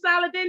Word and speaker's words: Saladin: and to the platform how's it going mr solid then did i pronounce that name properly uh yes you did